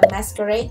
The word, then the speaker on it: MSQRD: Hace unos meses Facebook compró una aplicación que se llama Masquerade, se escribe M-S-K-R-D.